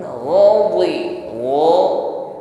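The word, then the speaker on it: غَضِبَ: Ghain tafkhim ya, tebal. Dhi juga diucapkan dengan tebal. Jadi bukan sekedar di. Kalau di diucapkan dengan ringan, ini masuknya pada huruf dal. Dadi. Namun mod tidak sedemikian, maka ziyadatun tafkhim ucapkan dengan lebih tebal.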